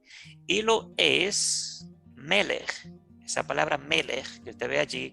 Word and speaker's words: Melech: Esa palabra Melech, que usted ve allí como M-L-K, en hebreo se pronuncia Melech, que significa rey, soberano y juez.